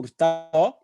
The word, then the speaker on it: Hurtado: October month, a virtual variety show live on Zoom, presented by BAAD Bronx, and I'm your host, Hurtado. The H is silent, but I am not.